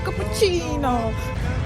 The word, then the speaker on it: cappuccino: Знаете, я поняла, что мы скучно произносим слово капучино. Точнее, остальной мир, кроме итальянцев, очень скучно произносит слово капучино. Потому что они здесь говорят капучино.